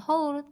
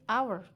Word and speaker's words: hour: huruf bersuara vokal itu bacanya bukan haul tapi hour ourse depannya vokal and